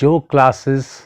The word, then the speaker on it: yog: So instead of yoga, start saying yog.